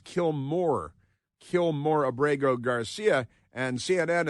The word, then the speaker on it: Kilmar: It's Kilmar, but I think it's pronounced Kilmore.